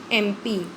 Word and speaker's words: MP: Father is dash MP, MP you will see how it is pronounced, MP कौन सा sound आ रही है, ए की, is vowel, so his father is an MP।